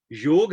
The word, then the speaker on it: योग: तो शब्द है योग। तो ग में अ है, मगर अ को बोलना नहीं है, योगा नहीं है, योग, कर्म, धर्म।